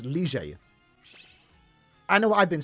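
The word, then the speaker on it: Lille: Which, by the way, lads, have you heard how they say Lie? We all say Lie, right? That's not how you say it, fam. It's like Rigi. Rige. It's technically Lige. That's how you should be saying it.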